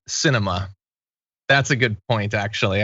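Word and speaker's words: Sinema: YT Prenude says, doing theatrics with a surname pronounced Cinema.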